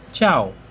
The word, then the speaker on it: ciao: Italian ভাষায় বলে চাও। চাও। আমরা কারো সাথে দেখা হলে হ্যালো বলি, হাই বলি। সেই ক্ষেত্রে ইতালিয়ান ভাষায় হবে চাও।